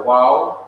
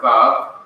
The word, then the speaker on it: waw: You see, this letter in the Hebrew is pronounced by Hebrews either as a waw, W-A-W, or as a vav, V-A-V.